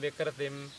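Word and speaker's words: विकृतिम्: When you say prakritim, vikritim, there is a stress on the pra and v.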